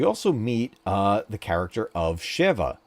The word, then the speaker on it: Sheva: And we also meet the character of Shiva. Shiva, or Sheva, I forget how to say it. I think it's Sheva. She's another character, much like